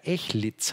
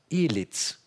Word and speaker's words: Ehliz: Hat er mir gesagt, würde der Name sogar Echlitz heißen und auf Deutsch so ausgesprochen, wie es für ihn ist, okay ist, Elitz, also mit Z und nicht mit S hinten.